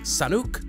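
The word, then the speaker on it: Sanhok: Nicolo Zamora, who says, it's pronounced Sanuk, the H is silent. To you, dear Zabiro, I say when you become the dear narrator, you may pronounce it however you wish. Until then, it is San Hok.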